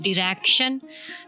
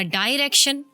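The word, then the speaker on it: direction: एक अंग्रेज बोलता है डिरेक्शन, दूसरा कहेगा डायरेक्शन, एक कहेगा ऑफिन, दूसरा बोलेगा ऑफ्टिन।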